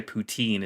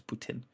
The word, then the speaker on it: poutine: I have a friend from Montreal, and apparently the correct way to say poutine isn't poutine, it's Putin.